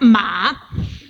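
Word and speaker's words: 马: more abstract but anyway this means horse and is pronounced ma okay and this first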